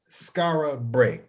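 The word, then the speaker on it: Skara Brae: Let's talk about Skara Bray. Okay. Am I pronouncing that correctly?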